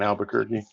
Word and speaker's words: Albuquerque: they put one in Albuquerque they pronounce it exactly like Bugs Bunny pronounces it hey yeah sorry sorry